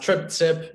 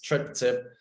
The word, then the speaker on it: Triptcip: of people have issues with that it's it's pronounced trip tip if you see the name it's trip tip so um and what is strip tip so